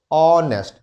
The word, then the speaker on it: honest: used with a consonant though the word started with a consonant but whenever we are pronouncing the word the consonant is being obsolete okay we can only find the pronunciation of the vowel honest it's not honest it's